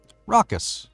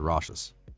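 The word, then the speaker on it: raucous: we say that word rockus okay rockus like rocks rockus rockus rockus it's weird like I know the definition but didn't know how to say it 100% I would have said rashes but it's rockus so I'm glad I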